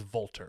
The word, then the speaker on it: Wolter: that is his name he is volter that's how we'll pronounce him from this point forward this absolute insane man